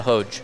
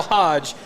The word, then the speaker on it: Hoge: Is that how you say it? Merrill Hodge, Merrill Hogue? Yeah, Hoge. Hoge. No. However you said it. Hogue? No. Ho. It's not Hoge? Hodge. Hodge? Hodge. Yeah, Merrill Hodge.